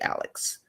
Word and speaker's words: Alix: And his name is spelled Alix. So he's DJ Alex.